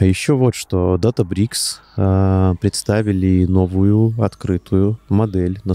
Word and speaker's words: Databricks: Debricks. Да. Ну, да как нет, DataBricks, понятно, что это, да, читается, это почитается DataBricks. Ну, это читается DataBricks, да, но называется она буквально DataBricks.